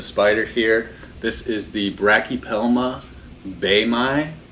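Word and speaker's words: Brachypelma boehmei: This is the Brachypelma baemi, is how it's pronounced in Latin. I've seen online that other people pronounce it Brachypelma boemi or Brachypelma baemi.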